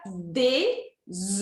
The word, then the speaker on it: œufs: E ovos fica des, muda completamente. Porque eu não pronuncio nem o F nem o S.